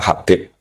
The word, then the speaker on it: Habib: Itu di harokatnya kitab itu ada yang nulis Hubab. Tapi yang benar yang benar itu bacanya Habib.